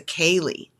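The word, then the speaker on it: ceili: social dance called achaeli akali spelled c-e-i-l-i so that's gaelic pronunciation it's a kali which is a social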